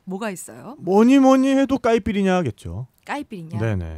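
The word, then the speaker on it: caipirinha: 뭐니 해도 까이피리냐겠죠. 까이피리냐? 네네. 뭐 어떤 술이에요? 까이피리냐는 까시아사라는 술로 만드는 칵테일이에요. 까시아사. 까시아사. 제가 발음을 맞게 했나요?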